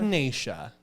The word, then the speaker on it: echinacea: And if you're sick, take echinacea. I don't know how exactly. Echinacea. Oh, is that how you pronounce it?